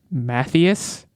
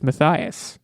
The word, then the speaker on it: Matthias: red wall is matthias i always in my head pronounced it as mathias which is wrong so this was a learning experience for me i learned it's madame it's it's mathias he had a thing